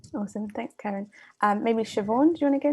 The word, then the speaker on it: Siobhan: thanks karen um maybe siobhan do you want to go next well let me know if i've mispronounced your name no that's perfect that's fine and yeah i'm siobhan